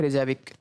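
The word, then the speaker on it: Reykjavík: इसकी राजधानी है रेजाविक। क्या राजधानी है? रेजाविक, ठीक है। कुछ भी आप उच्चारण ले लें, कोई दिक्कत नहीं है, बस समझ जाएं कि हाँ ये इसी की राजधानी है।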